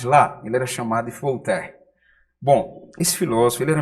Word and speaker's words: Voltaire: Bom, veja só como se escreve o nome desse filósofo. V-O-L-T-A-I-R-E. Voltaire.